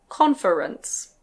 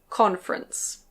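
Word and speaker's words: conference: The next one can be pronounced "con-fe-rence". Con-fe-rence. But usually we say "con-frence".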